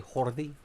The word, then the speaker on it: Jordi: As Med NASA would say, Jordi. It's Jordi, man. Yo hablo español, es Jordi Alba. That's how you say Jordi Alba. That's how you say his name correctly.